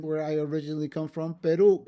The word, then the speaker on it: Perú: And then, where I originally come from, Perú. It's not Perú, it's Perú. So, you have to put an accent on that last syllable, on that u of Perú.